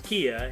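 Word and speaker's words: Kea: to do with this yeah kia don't ask me why it's spelled that way but it's it's kia and as you can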